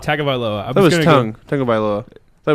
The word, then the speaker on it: Tagovailoa: How do you pronounce that? Tagovailoa. Tagovailoa.